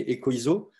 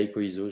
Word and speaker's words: EcoISO: La prononciation recommandée pour ce modèle, c'est écho, comme un écho, et ISO.